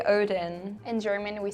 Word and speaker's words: Odin: in Old Norse was Odin. So, in this case, the closest would be the Norwegian, in my opinion. Because she did pronounce the D as a the, so the interdental fricative, like in mother, and I believe that's